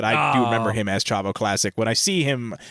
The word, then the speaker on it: Chavo Classic: Chavo Classic? Well, I have to thank Wikipedia for that, but I do remember him as Chavo Classic.